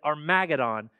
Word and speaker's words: Armageddon: more Equitable system armadon he doesn't call it AR he pronounces it armadon will be at our